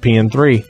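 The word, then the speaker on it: P.N.03: I call it PN3 because you don't pronounce the O or 0 in front of numerals. You just say the number.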